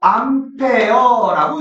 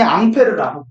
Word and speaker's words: 암페어: 아니는 숫자 A로 쓰고 암페어라고 읽어. 이분이 원래이 아까 얘기한 아까 얘기하구나 이분도 프레스꾼이 앙페르라 읽으니까 암페어라고 이렇게 프랑스 미국 장 나라가